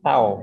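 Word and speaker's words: τ: Momen gaya itu dibacanya itu tau. Ini dibacanya apa? Tau ya, tau.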